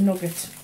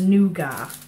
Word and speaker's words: nougat: You can't go wrong with nuggets. Unless you're one of these pretentious sorts who pronounces it as nougat.